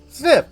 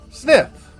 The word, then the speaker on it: Zniw: pronounce it and yeah they said I like sniff but with a z diet herbivore group uh